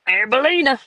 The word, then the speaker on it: Arbelina: Okay, it's Arbelina. That's how my dad pronounces it.